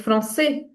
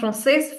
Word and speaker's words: français: Like it's français. It's not française. Française is only when we add another E.